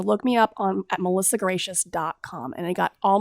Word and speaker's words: Gratias: a s calm so my last name looks like grittiest but it's pronounced gracious so look me up on Melissa gracious calm and they got